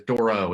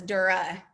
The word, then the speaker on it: Dorroh: I normally say Dora, but it's Dorroh, isn't it, Katrina? Yes, or my husband is from South Carolina and he says Dura. So Dorroh. All right. yeah, but no one knows how to spell that when I say it like that. So I say Doro.